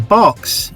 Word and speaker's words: Berks: race is all about young burks and old bucks or young barks and old bucks as they would pronounce it locally um barks being barksheer